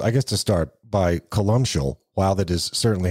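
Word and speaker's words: Columcille: megalith and so I guess to start by colal while that is certainly how it's pronounced it's basically a a a portmanto of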